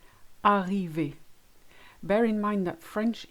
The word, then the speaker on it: arrivé: First of all, you need to say your vowels correctly. I'll give you two examples. Chocolat, arrivé.